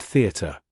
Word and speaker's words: theatre: Thus, in the word theatre, the stress of the voice should be on the letter E and first syllable, the, and in contrary, on the first syllable con.